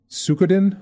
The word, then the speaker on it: Suikoden: Oh God, I'll mispronounce this, but both of you can correct me. Suikoden 1 and 2?